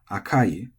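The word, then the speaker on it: 赤い: And so you would say oishii, but maybe akai as flat, and you say akai as flat.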